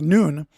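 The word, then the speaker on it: ن: Iraq, they began putting the Arabic letter N, uh which is pronounced noon on the homes and businesses of Christians.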